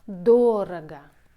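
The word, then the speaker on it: дорого: words it means expensive durga the stress on the first syllable it's adverb duraga by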